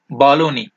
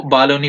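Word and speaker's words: Bologna: था, मिलान था और ये बालोनी, इसको बालोनी पढ़ते हैं BLO, जी इसका साइलेंट रहता है यानी बालोनी और रूम और रेनेसेंस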